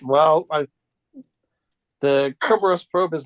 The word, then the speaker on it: Cerberus: hard C. Kerberos. I'm not mistaken. Caraberos, actually.